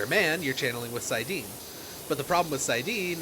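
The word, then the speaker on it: saidin: Sidine, I think is how it's pronounced.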